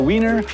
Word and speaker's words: Wien: Welcome to the Wiener Wirtschaft. No, it's actually Wiener witchcraft. Yeah. Yeah. No, no. It does how it's spelled exactly.